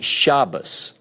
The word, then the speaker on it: Shabbos: But certain sects of Judaism, if they have the Tav with the dagesh, they pronounce it as the T. Without the dagesh, they pronounce it as an S. So in the word Shabbos, that's the reason they pronounce it like that.